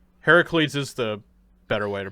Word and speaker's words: Heracles: kind of just like hercules but it's actually heracles heracles is the better way to pronouncing that actually it's the okay it's the